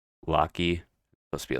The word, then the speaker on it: Loki: I say Loki. Supposed to be like, yeah, lock and key. I think is what it's supposed to be pronounced.